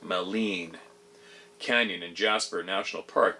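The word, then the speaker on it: Maligne: fairies little people there's a mythology of malign pronounced meleen Canyon and Jasper National Park being the location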